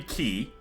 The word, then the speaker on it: Qi: So it could be key, right? I don't hear that very often though, but I think it would be acceptable. Chi is pronouncing it as like the pinyin pronunciation, like when you Romanize Mandarin.